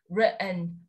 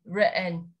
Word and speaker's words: written: Bởi vì có một quy tắc nhỏ nhỏ, đó là nếu như chúng ta có tổ hợp TN đứng cạnh nhau trong American English, mọi người tách ra cho mình và đọc là writ, để im vào đấy một giây, và sau đó chúng ta kết thúc với âm n, written, written.